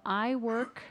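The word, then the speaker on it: iWorQ: We'll move on to number 8, a discussion of approval of iWork, that's spelled small I WORQ. I had to ask how to pronounce it again.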